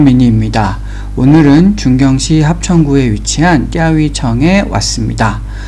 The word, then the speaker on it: 钓鱼城: 오늘은 중경시 합천구에 위치한 띠아위청에 왔습니다. 우리나라 말로는 조호성이라고 발음되는 이곳은 역사적으로 꽤 중요한 의미를 갖고 있는 곳입니다.